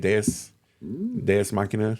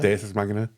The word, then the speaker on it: Deus ex machina: Deus Machina. Deus Ex Machina? Deus Ex Machina.